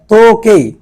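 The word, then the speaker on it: とけい: হচ্ছে চাবি কাগি মানে হচ্ছে চাবি তারপরটা যাই তোকে তোকে তোকে মানে হচ্ছে ঘড়ি তোকে মানে হচ্ছে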